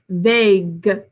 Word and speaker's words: vague: basically looks like vog because the a you when they're together they make that ah sound so make sure it's vague side what are you